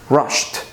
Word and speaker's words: rushed: rush no vibration so the correct pronunciation with regular verbs with no vibration is T rushed another example is the